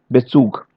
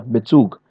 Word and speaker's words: Bezug: Okay, the verbal prefixes be, emp, ent, er, ge, fer, ser. These are the verbs, these are the prefixes which will never be stressed. Never. They are going to pronounce simply, the whole word is going to be pronounced like Bezug. No stress anywhere.